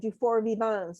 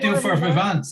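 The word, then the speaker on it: Durfort-Vivens: really supported, Claire, is Dufour Vivants. And your cousin, Francois Villars, taught me to say it correctly because I wasn't pronouncing the S, right?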